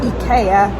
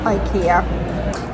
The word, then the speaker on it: IKEA: those together and came up with it's actually pronounced EA not Ikea so I do have to show you this